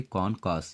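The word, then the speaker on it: concourse: इसे आप बोलेंगे कॉनकास। यहाँ मैं आपको बता दूँ, ये आर साइलेंट है।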